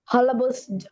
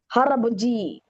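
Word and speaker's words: 할아버지: Oke, Omoni, Aboji, Hal, hal, halabos, haraboji. Hal, Aboji. Tapi ngomongnya Halab- harab. Betul, ngomongnya kamu udah bagus.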